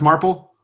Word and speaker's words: Marple: Is it pronounced Marple?